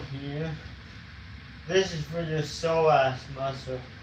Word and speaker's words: psoas: This is for your psoas muscle. It's spelled p s o a s.